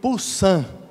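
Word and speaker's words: Poussin: de 1653 um outro pintor francês de nome pusan escreve pulsing com dois ésses mas a pronúncia é pulsando também do século 17653 esse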